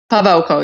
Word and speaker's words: Pawelko: Pawelko, yeah. Pawelko, yeah. There's the Polish pronunciation. The W is the V, yes.